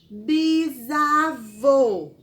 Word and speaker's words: bisavô: temos bisavô e bisavó o pessoal só uma dica o que muda esse sozinho de voo de vó é aquele sinalzinho que você aprendeu lá na palavra vovó e da palavra vovó tá bom o que